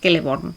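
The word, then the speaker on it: Celeborn: vamos a encontrar que la c siempre es como una K o como por ejemplo leería celebonies kelleborn es decir funcionaría como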